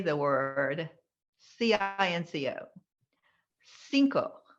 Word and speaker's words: cinco: loved it but when you say the word c-i-n-c-o cinco not senko oh thank you sanc is the french pronunciation for the number five oh how embarrassing